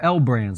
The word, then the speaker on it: L Brands: So if we go over here, look at the biggest losers for the day, things like limited brands, or L brands is how you say it there.